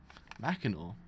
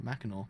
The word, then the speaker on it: Mackinac: Mackinac. Oh, what do you know? Mackinac. That's how you say it.